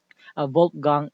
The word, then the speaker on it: Wolfgang: W kasi pinopronounce as V, di ba? Kaya Wolfgang Iser.